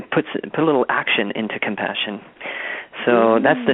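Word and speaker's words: ComePassion: The name of this album is called Compassion, but it's spelled C-O-M-E, passion. So it's a bit of a play on the word compassion, but almost invoking an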